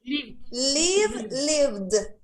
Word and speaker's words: lived: Lived. Live, lived. Live. ¿Sí? Acá Sí, yo, pero la hace sonar como T vos. no, suena una D. Lived. Lived. Mira, si lo sueno como T, dice lived.